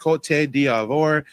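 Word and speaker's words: Côte d'Ivoire: Uh yes, Ivory Coast is like you said, it's pronounced C diavore.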